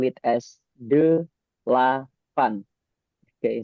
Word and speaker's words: delapan: So after the number 7, there is 8 in Indonesian, where we usually call it as delapan. Okay, so it's 3 syllables. It's called as delapan.